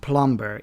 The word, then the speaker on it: plumber: Plumber is an exception because the M and B are not at the end of the word.